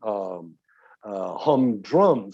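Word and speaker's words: humdrum: emphasis of the word you don't say hum drum things are hum drum things are hum drum the answers of course on the first syllable but then of course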